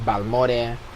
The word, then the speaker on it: Balmore: And then so Balmore, that's how you say it in English. Yeah. It's Balmore.